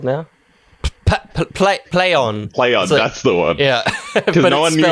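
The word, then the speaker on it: Plaion: Play on. That's the one. Yeah, because no one knew how to pronounce P-L-A-I-O-N.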